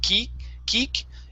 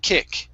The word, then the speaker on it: kick: is kick okay so we're gonna use a short uh short i sound instead of ki kik it's k kick try that kick kick